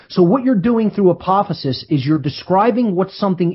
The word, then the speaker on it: apophasis: This comes from the term apophasis, and I'll spell that.